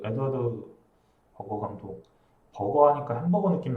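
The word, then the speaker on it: Edward Berger: 그래서 이 원래 에드워드 그 독일 발음으로는 에드가르트 베르거라고 알고 있거든요. 근데 이렇게 말하면 또 허세로 보일 수 있으니까 그냥 에드워드 버거라고 하겠습니다.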